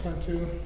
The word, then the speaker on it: Kuntu: I'm Detective Kuntu. Detective what? Kuntu. How do you spell that?